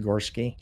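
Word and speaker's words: Gorecki: uh brandon gorski uh the last name is spelled g-o-r-e c-k-i okay that's pronounced gorski yes sir all right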